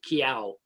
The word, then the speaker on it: Kiao: It's pronounced like the cat sound meow with a K, kiao.